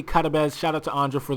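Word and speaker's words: Karabec: I know it says Karabek, but it's actually Karabez.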